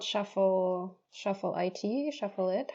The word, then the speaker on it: Shuffle iT: so the company is called Shuffle Shuffle it shuffle it how do you actually pronounce it shuffle it shuffle it okay so so Shuffle it was